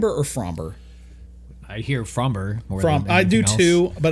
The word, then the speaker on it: Framber: Yes, it it is according to baseball references pronunciation. From frmber.